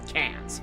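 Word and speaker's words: Quinze: It's like Quincy, I think is how it's spelled, but it's said Cans.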